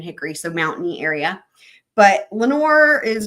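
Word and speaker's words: Lenoir: um in North Carolina there's a town called Lenor and it's spelled like this and actually super planner girl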